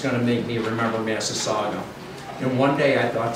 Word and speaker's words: Massasauga: Eastern Massasauga. Massasauga. You have to say that a few times before you remember those four syllables.